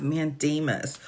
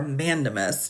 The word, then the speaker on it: mandamus: We have an emergency motion for a state pending appeal in the petition for a rid of mandamus or mandemus, depending on how you want to pronounce it.